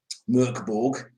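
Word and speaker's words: Mörk Borg: of that that i've come across is um murkborg uh if i pronounced that correctly you did you didn't you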